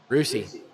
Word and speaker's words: Russia: Well, just anybody, but in our state, Rusi. Rusi, yeah. It's spelled Russia. Russia. Pronounced Rusi.